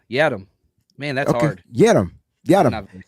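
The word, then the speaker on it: Yiadom: It's Yadam. It says like Lil Jon.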